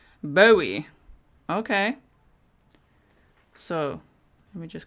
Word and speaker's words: Bowie: bow bow you tie like bow tie with an e Bowie Bowie okay so let me